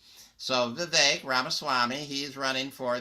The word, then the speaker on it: Vivek: in that it's uh it rhymes with cake it's Vivek it's not the Vic so Vivek Rama Swami he's running